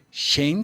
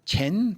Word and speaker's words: Chen: E o Tai Chi Chuan, dito Shen Tai Chi, Chen Tai Chi Chuan, né, que é a pronúncia correta, Tai Chi Chuan, Chen Si Tai Chi Chuan.